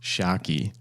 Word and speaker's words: Tscharke: I I noticed on your um about page that you've got um you know pronounced Shaki.